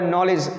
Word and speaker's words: knowledge: एक शब्द मिला होगा नॉलेज, KNOWLEDGE। इसका मतलब क्या होता है, ज्ञान, जो कि इसमें देखा जाए तो इसकी जो स्पेलिंग है वो KNOWLEDG होती है, जिसमें K साइलेंट है।